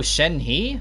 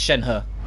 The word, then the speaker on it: Shen He: You read her name, you're like, oh, Shen He? Oh, okay. No, it's Chinese, it's Shen He.